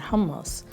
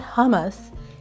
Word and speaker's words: hummus: That is a plate of hummus, tahini, not hummus, it's hummus. That's the way it's pronounced.